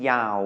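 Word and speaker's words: ยาว: in Thailand and then Yao which means long and we're using the low class your yak as the initial consonant there Dow and Yao are both mid tone because they have no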